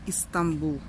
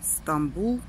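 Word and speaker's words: İstanbul: стамбульская какое-то здание кстати турки произносят istanbul это мы вот произносим стамбул а турки говорят и стамбул там пара крыша красивого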